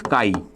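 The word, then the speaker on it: chi: pronunciation for this is Kai okay remember pronunciation for this is not X it's Kai okay now we can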